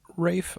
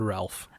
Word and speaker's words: Ralph: Some might even say it's Rafe Fiennes. What did I say? You said Ralph. I say Ralph because it's spelled Ralph.